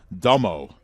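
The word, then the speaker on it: D'Emo: Michael Domo Michael Domo D apostrophe e-m-o and evidently pronounced dummo the 2-2 pitch is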